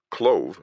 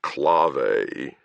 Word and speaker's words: Clove: "Clove," I said. "Your name is Clove." He returned my sword and sighed. It's pronounced clave, but I'm under strict orders not to make an issue of it.